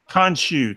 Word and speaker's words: Khonshu: pronounce it wrong you khonshu thank you I wanted to put a in there I wanted to call the connoisseur you starts explaining it